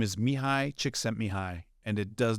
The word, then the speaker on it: Mihaly: And you'll see it's Mihai, it's pronounced Mihai Csikszentmihalyi, and he's kind of known as the godfather of flow.